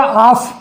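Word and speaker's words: half: यहाँ पर डी के पहले अगर एल आता है तो वहाँ पर एल साइलेंट हो जाता है। और ऐसे हो गया आफ, आप का मतलब होता है आधा, ऐप के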